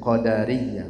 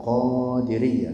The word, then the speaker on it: qadariyah: mereka mengingkari Qadar inat-atti bacanya qadariyah bukan qodiriyah ya kalau qadiriah tarekat tarekat qadiriah